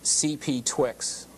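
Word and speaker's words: CPTWG: the last group there the CPT TWD is pronounced CP Twix okay the CP Twix has been meeting once a month in Burbank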